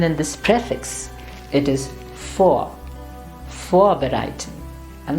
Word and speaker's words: vorbereiten: Or even in this prefix, it is vorbereiten, and not vorbereiten, no, vorbereiten.